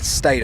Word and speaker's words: Staten: Is it Staten or Staton? Staten. I was actually just about to say something about it. I believe it's pronounced Staten.